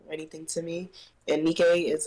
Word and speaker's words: Nike': the name right because a lot of people want to call me Nike because of the way that is spelled so originally that's the